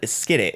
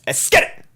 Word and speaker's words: Esskeetit: I think you said Esskeetit. It's Esskeetit. I don't say it like that because we peak that way. We speak that way. Esskeetit. Esskeetit. A ski ball. Because it's just Let's Get It, because that's like drill